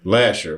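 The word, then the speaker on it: Lahser: yep on uh near we say la we say Lasher but it's it's supposed to be pronounced ler but we know you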